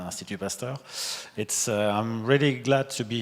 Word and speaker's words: Institut Pasteur: First of all, thank you, particularly Dimitri, for this invitation, and also Institut Pasteur Korea, IPK, even if I try to use the French pronunciation, Institut Pasteur.